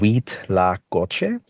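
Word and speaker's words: huitlacoche: There's something else called, and this is hard to pronounce for most people. It took me a while to get it. It's called wheat la coche.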